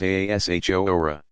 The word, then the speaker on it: Ashura: Ashura, pronounced Aashora.